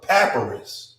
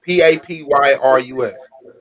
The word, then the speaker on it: papyrus: this thing would be you said it's a paparazz right then spell that for me p-a-p why p-a-p-y-r-u-s right so now what i want you to